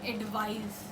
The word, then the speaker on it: advise: This one is with the letter S, but the pronunciation comes with the sound of Z, the letter Z.